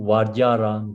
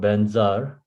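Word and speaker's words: वज्र: So you really go to in the Sanskrit is Om Vajjara Guru Pema Siddhihong. So Vajjara is a Sanskrit, Tibet is called Benzar. As it is pronounced in Tibetan, then Guru and Pema.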